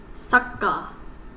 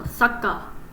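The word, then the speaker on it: さっか: So for example, if I were to write this one, this would be sakka, because this small tsu basically indicates that the ka is a double consonant, so you would pronounce it stronger, so sakka.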